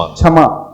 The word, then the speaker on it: क्षमा: तो बहुत सारे लोग क्या मिस्टेक करते हैं, क्षमा के लिए क्या बोलते हैं? क्षमा। क्षमा, छतरी का छ प्रयोग कर देते हैं। हाँ, छतरी का छ नहीं प्रयोग करना, क्षमा। यानी जब हम उसका उच्चारण करेंगे क्षमा का, तो अंदर से पहले क का देखना उच्चारण अवश्य आएगा, क्षमा।